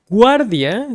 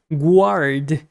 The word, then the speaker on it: guardia: So guardia sounds like guard if you actually pronounce the U. Guardia. So there you go. You have to pronounce the U in Spanish.